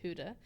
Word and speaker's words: Gouda: No, you're supposed to put Gouda and Colby. So thick. You gotta put like a slice of Gouda, which is apparently pronounced Huda, and then a slice of Colby.